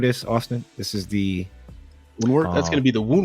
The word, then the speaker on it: Woundwort: How do you pronounce the name of this, Austen? This is the Woundwort.